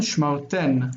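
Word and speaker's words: שְׁמַרְתֶּן: Shmar ten, you have kept.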